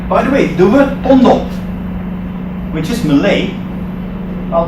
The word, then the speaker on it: pondok: By the way, the word pondok, which is Malay, well, Malays have a problem with pronouncing F's and V's. They turn them into P's and B's.